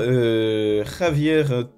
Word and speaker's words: Javier: Lansorien joué par Javier T, je suppose. Oui, non, c'est un espagnol, donc le J se prononce R, enfin, comme ça, je crois que c'est ça.